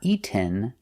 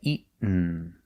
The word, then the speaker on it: eaten: Pronunciation, not eaten, but eaten. You go to a stop T, eat, and you fall to the N.